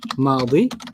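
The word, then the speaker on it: ماضي: Past is madi. Madi. Like Maddie. Madi.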